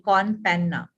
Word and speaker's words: con panna: don't remember it the question espresso on p-a-n-n-a con Panna it's a there's a drink called espresso con